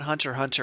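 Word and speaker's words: Hunter × Hunter: between catching up on Hunter Hunter and going through JoJo's weirdly JoJo's has more continuity between plat ARS but yeah let's loop back to the very start so Hunter Hunter the ex is silent I just felt the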